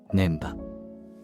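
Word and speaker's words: 根場: ねばと書いて、ねばではなく念波。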